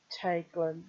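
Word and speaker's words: Teiglin: EI as in Teiglen has the sound of English grey.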